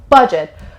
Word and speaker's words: budget: number for budget budget it has two syllables Andrew stresses on the first syllable so budget but it is kind